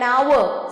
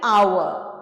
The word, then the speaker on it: hour: Now an hour, silent H है यहाँ पर, sounds like hour.